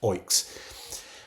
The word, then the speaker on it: OEIC: these os so so OEIC uh is pronounced Oinks.